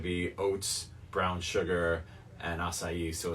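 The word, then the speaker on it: açaí: The acai. Oh, acai.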